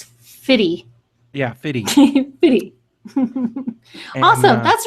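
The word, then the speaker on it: FITE: Pretty sure that's Fitty.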